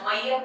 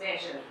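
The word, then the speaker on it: major: इसे बच्चे मेजर पढ़ने की बजाय मैयर पढ़ते हैं. आप भी पढ़ते होंगे बहुत सारे मैयर. It's wrong pronunciation. आपने कहां से सीखी? पैदा होते तो नहीं पता था. आपकी गलती नहीं है. डू not feel ashamed of. लेकिन इसका एक्चुअली प्रोनाउंसिएशन इज मेजर.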